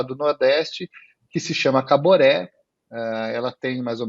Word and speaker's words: Caboré: que nome que tem Caboré é um nome forte né Né três sílabas né uma sílaba forte no final Caboré Caboré el falou nossa que